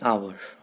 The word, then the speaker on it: hour: to understand here an hour although h is a consonant as you can see here but h is silent so we are uh